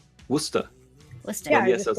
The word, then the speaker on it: Worcester: Like Worcester. Worcester.